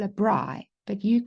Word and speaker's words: braai: You can either stay at home with your family and invite friends over and have what we call a braai, but you call a barbecue.